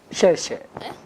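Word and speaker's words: 谢谢: Xie xie.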